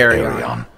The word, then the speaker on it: Arion: Is she saying Ilion? It's spelled Arion, though. What is Ilion's duty? Well, let me share the word of Arion with you. See? And Even he says finally, Arion.